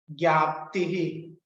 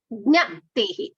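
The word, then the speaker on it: ज्ञप्तिः: Gya nasti. Jnaptihi. Gyaptihi. Jnaptihi. Jna. This is jna. There is no amatra which is making it dheerga. There is no dheerga swara there. It's only hrasva swara. So jnaptihi. Jnaptihi.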